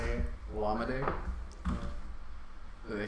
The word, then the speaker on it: Olamide: Olamide, that's how you say it. Olamide?